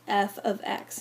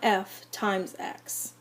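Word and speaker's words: f(x): is sometimes written as F ofx instead that's pronounced F ofx not f * X the following are both the same equation of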